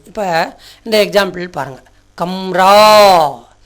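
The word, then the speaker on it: कमरा: இப்போ இந்த எக்ஸாம்பிள் பாருங்கள், கம்ரா, க ம ரா அப்படி தானே சொல்கிறோம். ஆனால் கமரான்னு சொல்லக்கூடாது. கடைசி எழுத்து நெடில் எழுத்தாக வந்திருக்குது, நடு எழுத்து குறில் எழுத்தாக வந்திருக்கிறதுனால இந்த நடுவில் வந்த குறில் எழுத்தை மெய்யெழுத்தாக மாற்றி உச்சரிக்கணும்.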